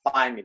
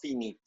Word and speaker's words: finite: finite and nonfinite verbs the pronunciation is finite it's not finite finite and nonfit verb